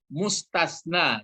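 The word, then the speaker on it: مستثنى: Lalu yang dikecualikan istilah Arabnya adalah mustasna. Jadi ini pakai sa dia. Mustasna, istisna. Dipakai yang satu lagi mustasna, pakai sin dulu ya. Baru tasna. Mustasna seperti ini. Mustasna dibedakan bacanya ya.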